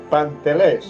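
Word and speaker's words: παντελές: el original griego pantel se escribe aí mismo como se pronuncia pantel con acento en la última e pantel esta palabra se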